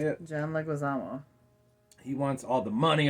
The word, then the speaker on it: Leguizamo: John Leguizamo.